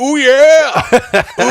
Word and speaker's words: Ouya: Ouya? It's the "ooh yeah! Ooh yeah!"